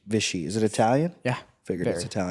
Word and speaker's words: Visci: How do I pronounce the last name? Visci. Visci.